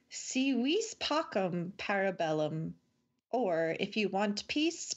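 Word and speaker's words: Si vis pacem, para bellum: to pronounce that correctly so it's not see this pacem yeah that's what I said at the end of the last one that's wrong see we Spock impera bellum or if you want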